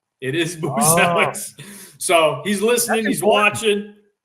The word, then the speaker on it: Buzelis: know, AK, that his last name should be pronounced properly as Buchellis from the motherland. Yeah, told me don't listen to AK. Don't let it's Boozelis. It is Boozellis.